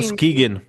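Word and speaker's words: Muskegon: $70 million is going to Musk Musk Muskagon, Michigan, if I'm pronouncing that right. 16 Muskegan.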